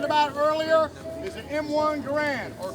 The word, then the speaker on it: Garand: Is an M1 Garand, or Garand, as it's pronounced.